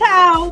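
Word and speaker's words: Heaux: That's how folks in New Orleans say go, go, go.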